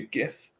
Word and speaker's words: GIF: it sent me a gift yes gif that is how it's pronounced I don't care what the guy who made them says I like the phony